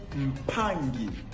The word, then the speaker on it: mpangi: O som da letra G é sempre gutural, ou seja, de G e Gu. Exemplo: ao invés de ler mpangi, lê-se mpangi.